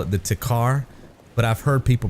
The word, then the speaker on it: Tikhar: saying that wrong, but I will be calling it the Tikhar because that's how it looks to me. But again, I've heard people call it Tahar, leaving the K silent.